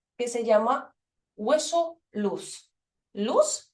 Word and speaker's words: luz: Luz se dice luz con s, pero se escribe con z, es decir, luz o edioides también desde forma anatómica.